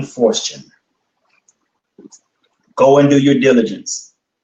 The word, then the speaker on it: Forstchen: His last name is spelled Forstchen. William Fortune.